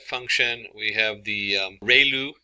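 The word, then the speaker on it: ReLU: a standard step function we have the um rayu it's pronounced like Ray the ray of from the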